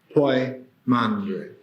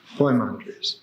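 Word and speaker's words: Poimandres: or many other ways the correct way to spell it is p o i m a n d r s po mandre po mandre who is The Shepherd of men who is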